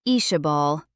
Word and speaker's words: Isabel: Fisher pronounced it Ishabal, the name flowing nicely off his tongue, like he'd known 20 other females with the same name.